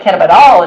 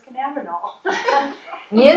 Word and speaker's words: cannabidiol: I always thought it was cannabinol.